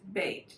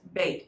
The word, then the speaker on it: Bet: first one is bait it looks like the word bet but it's actually an a y sound bait so if i was to spell it as it sounds it would be b-a-y-t or sometimes you know you can have a bait box right like all right bait that's how you pronounce it the second spelling